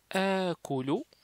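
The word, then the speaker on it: آكُلُ: Donc ce alif particulier, donc il est allongé, donc on dit à colo, c'est-à-dire je mange.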